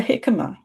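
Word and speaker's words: jicama: vegetable like like a hikima. Hikimma is spelled J I C A M A, I think. But it starts with a J. It says hikima.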